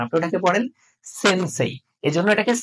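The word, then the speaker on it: せんせい: আপনি জাপানিজ বর্ণমালার একটা ওয়ার্ড রয়েছে সেটা হচ্ছে সেনসেই আপনি কিন্তু ওটাকে পড়ার সময় সেন্সে পড়েন না আপনি ওটাকে পড়েন সেনসেই এজন্য এটাকে সে পড়বেন সে তাহলে উচ্চারণটা সহজ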